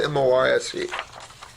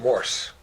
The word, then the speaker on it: Morse: write you one, and it's spelled M-O-R-S-E. Not Morse. It's Morse.